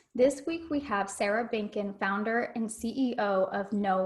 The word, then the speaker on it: Benken: Benken.